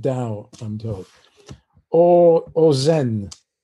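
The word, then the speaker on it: Tao: like like the the dao spelt t-a-o but pronounced dao i'm told or or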